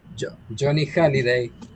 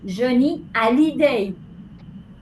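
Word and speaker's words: Johnny Hallyday: Euh Johnny Hiday. Non, tu aimes Johnny. Voilà. En français, on dit attends en français on dit Johnny Alid. Parce que le H se prononce pas.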